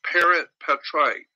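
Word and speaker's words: parens patriae: I don't know exactly how to spell it, but it's pronounced parent patriae.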